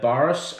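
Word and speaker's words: Burris: in seven mil remag it's a boris i'm pretty sure that's how you say it um it's a 5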